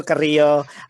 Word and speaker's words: Carrillo: you carrillo and please know that i'm pronouncing carrillo you rafael that's how i pronounce it my name is carrillo director of strategic initiatives